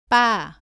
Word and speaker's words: 빠: 발음은 바와 비슷한데 목에 힘을 주고 더 세게 발음합니다. 공기가 입 밖으로 나오지 않도록 합니다. 따라해 보세요. 빠, 빠.